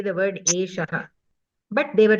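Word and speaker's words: एषः: Eshaha Ramaha. Okay. This Eshaha, some people say Esa. Esaha, Esaha, like that they say. They pronounce it little differently.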